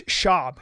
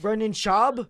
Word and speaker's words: Schaub: not in the room where's Brandon Schwab from it's shab you have to say it's not right Brennan shab yeah Brennan shab he